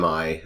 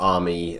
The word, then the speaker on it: AMI: step is to create an MI or army or a Mii depending on how you say it just right-click the snapshot